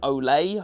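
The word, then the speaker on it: Olle: So yeah, you plays this little kid called Olay. I think that's how you pronounce it. It's spelled O L L E.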